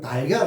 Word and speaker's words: 달걀: 닭의 알, 이걸 빨리 발음해보면, 닭의 알이라면은, 그게 이제 뺄 거 빼고, 연결해서 발음을 부드럽게 하려고 하면, 달걀.